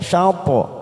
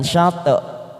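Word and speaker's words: شطر: Hati-hati membunyikan, hati-hati saat membaca huruf po yang disukun, karena ini juga merupakan bacaan qalqalah sugro. Dan cara membacanya, bibir kita hampir seperti membunyikan huruf aslinya. Syapo, syapo, syapo. Jadi seperti bibir kita agak sedikit monyong, terdorong keluar. Syapo, ya, bukan syate, tetapi syapo. syatrul masjidil haram.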